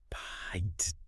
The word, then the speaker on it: pint: and it now demands a long I diphthong. Pint. Yes, you have to glide from an ah sound to an ee sound. I would like a pint of milk. It could absolutely not be pronounced paint.